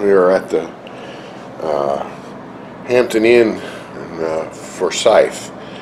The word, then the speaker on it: Forsyth: We are at the Hampton Inn in Forsyth. I was duly corrected on my pronunciations of the name of the town here. It's Forsyth, Georgia.